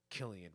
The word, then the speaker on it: Cillian: So I think it's pronounced Oona. But I'm not 100% sure on that. But Cillian Murphy is how you say Cillian Murphy.